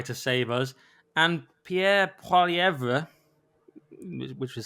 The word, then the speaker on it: Poilievre: And Pierre Poilievre, which is how we may pronounce it, has not only lost the election,